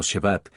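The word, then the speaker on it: שבת: se usa allí es la palabra hebrea shevad y la pronunciamos hoy en día como shabat es El séptimo día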